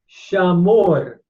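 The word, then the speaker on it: שָׁמוֹר: the long holam vav, shamor. And notice we have the AO with the long A in the commas and the holam vav in the final syllable, the final vowel, shamor.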